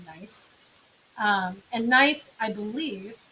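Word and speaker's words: gneiss: metamorphic rock this is it's spelled g-n-e-i-s-s but it's pronounced nice um and nice i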